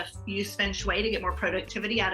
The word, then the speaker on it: feng shui: First of all, the pronunciation is Feng Shui, not Feng Shui or Feng Shui or whatever. It's Feng Shui, and it actually means wind and water.